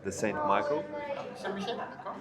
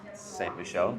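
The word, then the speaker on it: Saint-Michel: Could I just get the Saint Michael? Saint Michel, there you go. Michael, okay. My pronunciation wasn't great, but we learn and we move on. Okay, Saint Michel. Saint Michel? That's how you pronounce it.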